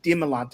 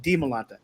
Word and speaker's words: Dimalanta: the showdown show and she's like yeah it's dimalanta and i was like oh we need to start saying it correctly so when we had on the show we kept saying we're all like demolanta di milanta then andrew is very